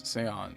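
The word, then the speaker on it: Xion: It's not Xian, it's Seon.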